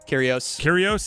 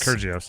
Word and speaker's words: Kyrgios: I'm not gonna be able to pronounce his name. Kyrgios. There you go. I was gonna go with Kyrgios.